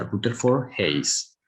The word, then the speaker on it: Rutherford Hayes: Así se pronuncia, Rutherford Hayes.